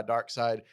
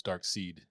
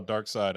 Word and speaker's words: Darkseid: I used to think it was Dark Seed.